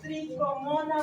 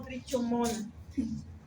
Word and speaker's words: tricomona: Es causado por un parásito unicelular llamado Tricomona vaginal. Se dice tricomona, no trichomona. ¿Ya? Creo que es pronunciación italiana, donde la che se lee como Q.